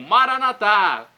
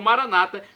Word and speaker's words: Maranata: aramaico dialeto de Jesus eu clamo maranat como dizemos nós católicos ou Maranata como dizem nossos irmãos separados os evangélicos ou protestantes não importa a pronúncia o significado é o